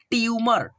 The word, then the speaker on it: ट्यूमर: और ऐसे पढ़ते हो ट्यूमर टी और या को साथ में मिलाकर के जब पढ़ोगे तो आपका उच्चारण सही होगा जैसे ऐसे पढ़ना ट्यूमर